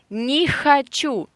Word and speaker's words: не хочу: You don't want to pronounce h sound and you replace h with k. It's more easy to say for you. Yeah, but this is a mistake. So listen, не хочу.